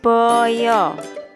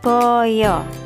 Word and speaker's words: baya: bahasa Jawa hewan ini disebut Boyo tulisannya baya tapi anak-anak membacanya Boyo geh Oke kita lanjut